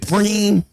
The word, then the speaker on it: Preem: Is it Preem? Like Kareem? Or is it like Preemy, as in like, you know, a baby born a little early? It's Preem.